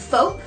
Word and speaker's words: Foap: And there's also one called, I don't know if I'm pronouncing this right, FOAP. It's spelled F-O-A-P, like soap but with an F, and that is like basically the same thing.